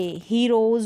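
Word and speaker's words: heroes: अंडे, हीरोज बोलते हैं हम, हीरोज बोलते हैं हम, हीरोज स तो नहीं बोलते, हीरोज।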